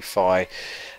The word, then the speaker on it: Fi: five fee whatever um I call her fee because I think it sounds better but apparently her name is actually Phi um well well they